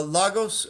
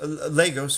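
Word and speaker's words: Lagos: start saving at money from uh logos Legos excuse me I learned the corre correct I learned the correct pronunciation just the other day from Legos to America's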